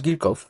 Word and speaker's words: Kirchhoff: আমাদের আজকের টপিক হছে কারশ কারেন্ট ল যদিও সঠিক উচ্চারণ হচছে গিরকফ বাট আমরা যেহেতু কারশ বাকি সব বলে অভ্যস্ত এজন্য আমি পুরো লেকচার জুড়ে কারসফ উচ্চারণ করব কামিং ব্যাক টপিক আমাদের